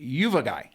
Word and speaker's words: Uvagai: It's called, you pronounce it, Uvagai.